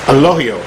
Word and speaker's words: Elogio: to say it it's a low yo it's not two syllables is just ruined syllable the way through an angio the G is actually pronounced as an H now four years of